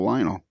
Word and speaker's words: Lionel: of those names that you can either break out the syllables and pronounce them individually or you can just kind of do it with the Sudbury slur and go Lionel it's not the name just drop the O right away just Lionel the Lionel yeah exactly